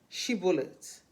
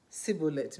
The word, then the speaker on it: Shibboleth: They asked him to pronounce Shibboleth, and he said Sibboleth because he couldn't pronounce it, and they slew him.